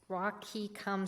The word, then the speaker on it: Wahkiakum: Um, the other thing of note is, uh, Wahkiakum's Wahkiakum School District. Um, that's in southern Washington, and I apologize if I pronounce that incorrectly.